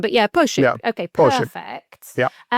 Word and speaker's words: Pošip: If I had a bit more of an accent, but yeah, Pochip.